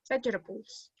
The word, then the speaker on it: vegetables: with the word vegetables vegetables the stress is on the first one vegetables so the second sound is very very soft and sometimes disappears if you speak faster it will disappear vegetables vegetables yeah vegetables